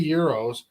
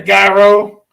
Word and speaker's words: gyro: I say Euros, and we looked that up together a long time ago, and then now we make fun of other people. They're like, "Can I get a gyro?"